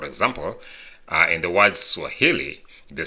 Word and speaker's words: Swahili: penultimate which is the second to the last syllable for example uh in the words Swahili the stress is in the stress is on